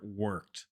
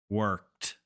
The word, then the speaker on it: worked: Ed endings so here we've got the word worked got that sound on the end we're going to click the microphone button read the word and then click again and get instant feedback on our pronunciation worked cool so I pronounced it correctly but what